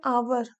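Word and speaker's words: hour: जैसे एन आवर, आवर नहीं होता ये, कभी एच दिया है लेकिन एच साइलेंट रहेगा, हमेशा आवर होता।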